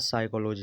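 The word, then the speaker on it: psychology: ओ जी वाई तो इसका पढ़ा जाता है साइकोलॉजी साइकोलॉजी होता है मनोविज्ञान तो जो साइलेंट होता है जहां पी शुरुआत में होता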